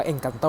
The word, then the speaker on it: Encanto: กว่า ที่ โอ้ ให้ engkanto เนี่ย เขา ออก เสียง ว่า เอ็ง กับ โต้ นะ ให้ ได้ ถึง 9